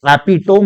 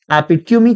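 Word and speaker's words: epitome: एक perfect example है, उनको एपिटोम नहीं एपिट्यूमी कहना चाहिए, इज द करेक्ट स्पेलिंग।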